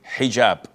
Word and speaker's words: hijab: with an h and I know in France they don't pronounce the h when it is in the beginning of the word as in otel or